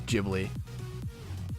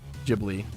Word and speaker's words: Ghibli: No way, it's Ghibli. Ghibli or... Ghibli. How do you pronounce the name of these Japanese animation studios founded by Miyazaki? In Japanese, it's said as Ghibli, Ghibli.